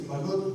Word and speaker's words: Balut: And the name is Balut Beilut, because most of the people who are not Filipinos will not pronounce it, so I have to put Beilut.